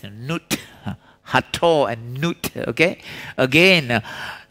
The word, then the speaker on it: Nut: See, it's pronounced as Nut.